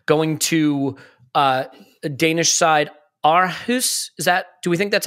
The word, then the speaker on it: Aarhus: I do want to mention Jack Wilshere going to a Danish side, Aarhus. Do we think that's how we pronounce that?